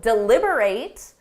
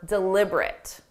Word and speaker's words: deliberate: They need to deliberate on whether her actions were deliberate. The verb deliberate is when you think or talk about something seriously or carefully. The adjective deliberate means intentionally or on purpose.